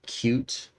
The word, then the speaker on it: Qt: built on qt6 now the designers or the project maintainers if you will like it to be pronounced cute uh it is not